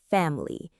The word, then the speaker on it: family: We stress the first syllable, fam-li. So the in the middle often gets reduced to a schwa or even disappears completely. We don't say fam-li, we say family or fam-li. That middle part is super fast and weak.